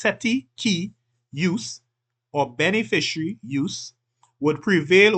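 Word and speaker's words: cestui que use: the Equitable owner or set set key use this is pronounced setti key use or beneficiary use would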